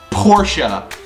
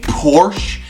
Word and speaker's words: Porsche: pronounced Porsche okay um it's German in German it is pronounced Porsche that is why people pronounce it like that I get that in English in the United States saying Porsche might make sense by